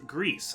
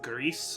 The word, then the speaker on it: GRIS: game it is uh this is Greece I think that's how it's pronounced um g r i s Greece which is Spanish and